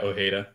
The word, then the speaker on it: Ojeda: minutes and and uh how do you pronounce Ojeda or Heda yeah Ojeda Ojeda 57th minute uh pulled